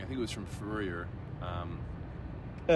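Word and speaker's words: Fourier: I think it was from Furer. Um uh such a weird name. He he has a transformation named after him in calculus, right? Yes. Yeah. The Yep. Furer.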